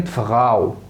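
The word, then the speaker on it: Frau: صوت معين، زي كلمة فغاو فغاو فغاو، او اوتو اوتو اوتو. انطق لي بقى الكلمة اللي جاية دي. ها جامد. هاوس هاوس، يبقى فغاو اوتو هاوس. يبقى الا او تنطق او، تنطق او.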